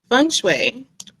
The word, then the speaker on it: Feng Shui: you as well um first fun fun is how you say it fun it literally means water